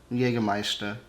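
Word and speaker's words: Jägermeister: actually funny but yeah we say jagermeister you got meister yeah but it's jaeger jaegermeister yeah but it's i think it's the exact same i don't really hear the difference in how they say it and how we say it and and people also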